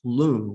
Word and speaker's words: lung: a phenomenon an experience called lung l-u-n-g it's a tibetan word it we westerners would call it lung lung is is pronounced loon wind disease loom and